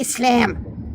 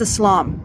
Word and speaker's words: Islam: No, it's not Islam. It's Islam. First say it right.